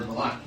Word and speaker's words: Vallaki: So looking at the map, looking at my little map, we found where Vallaki. Is that how you pronounce it, Vallaki?